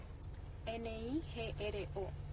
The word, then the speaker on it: Nigro: Nigro. Nigro. Okay. Mm-hmm. Entonces, her last name is pronounced Negro.